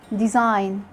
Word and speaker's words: design: Letter G is silent when it comes before an N at the end of a word, like in sign, design, campaign, foreign.